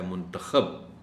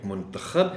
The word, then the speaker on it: منتخب: اس لفظ کے بھی دو تلفظ ہیں، ایک منتخب ہے اور ایک منتخب ہے. منتخب کا مطلب ہے کہ انتخاب کرنا، اور منتخب کا مطلب ہے کہ جس کا انتخاب کیا گیا ہو.